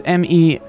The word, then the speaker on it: Miéville: There was a way that the audiobook I pronounced it that surprised me, but it's Miéville.